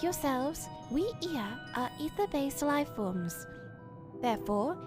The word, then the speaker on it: Ea: When the vibration of vocal folds was still required to convey our thoughts and intentions, Ia, I believe, was the pronunciation used when referring to our people, though it is not entirely applicable given our present state.